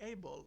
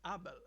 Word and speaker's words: Abel: say in the USA, you called me Abel, but my name is Abel. Okay. Not a bell nor Abel. It's Abel.